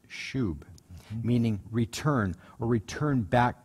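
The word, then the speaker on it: שׁוּב: It's spelled S-U-B. It looks like sub, but it's pronounced shub, meaning return or return back to, return to the Lord.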